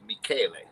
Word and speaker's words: Michele: Well, if I may correct, my first name is pronounced Michele. Oh, thank you. Well, thank you for correcting Michele, us. Yes. absolutely. Because it's Italian, and only It's in Italy Italian. the CH is a K.